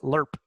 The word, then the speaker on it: LRRP: I think I even learned to pronounce it lerp long-range recon Patrol you know I mean it